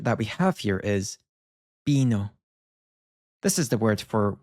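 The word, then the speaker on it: vino: As very often, at least in Latin America, you'll hear this take on more of a soft B. So the pronunciation that we have here is bino.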